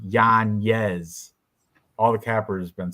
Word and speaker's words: Yanez: Twitter but then Joe Rogan still kept saying Giannis during the face-offs but on Twitter he he corrected on Twitter it's pronounced Yan yes all the cappers been saying it right Joe